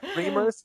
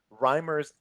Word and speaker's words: Reimers: reamers I don't say rhymers it's fun I reamers most of the time rhymers occasionally and every once in a while just